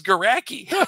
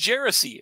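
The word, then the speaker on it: Geraci: I'm like, oh no, oh, I thought it was Garacki. He's like, no. Like if you'd said Drew Garacki's here, I'd been like, whoa. He's like, but it's pronounced Jersey.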